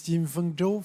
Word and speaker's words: Jinfeng Zhou: Zhou Jinfeng, if I pronounce it right. My name is Jinfeng Zhou from China Biodiversity Conservation and Green Development.